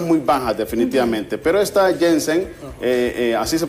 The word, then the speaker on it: Janssen: Pero esta Janssen, así se pronuncia, ¿verdad? Janssen, sí.